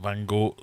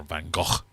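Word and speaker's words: Van Gogh: the only painting Vincent Vango sold during his lifetime or vano depending on who who told you how to say his name is it the irises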